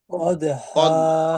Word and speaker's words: قدحا: হা আলিফ দুই জবর হান আছে, ওয়াকফের সময় দুই জবর হলে এক জবর বাদ দিয়ে এক আলিফ টেনে পড়তে হবে। কদ হাফ। কদ হা। বলেন। قدحا. قد কদ হা। قدحا فالموريات قدحا.